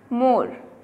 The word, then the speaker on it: more: And the next one more, here E is silent.